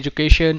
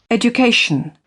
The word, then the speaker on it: education: TION को हम कैसे बोलते हैं? We speak it like shun. Right, so let's see example. This is an example. यहाँ पे ये word है education and this is UK pronunciation. I will play it and you can listen to this. Education. So it is being said as education.